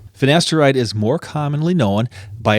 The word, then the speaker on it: finasteride: All right, the next one is finasteride or finasteride. Oh, shoot. That's what it is. Finasteride like it's spelled.